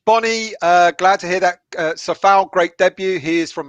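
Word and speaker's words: Souček: Still, can I ask, is it Safal or is it Kufal? I was told by a Czech fan. It's Sofal. Yeah, but is that in Czech language?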